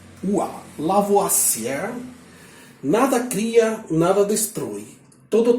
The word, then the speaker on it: Lavoisier: Mas, como fala Lavoisier, em francês, isto pronuncia-se Lavoisier.